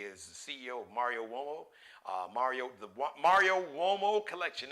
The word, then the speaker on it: Uomo: Uomo is spelled, I guess, in Italy, Latin, the UO is like whoa. Mario Uomo.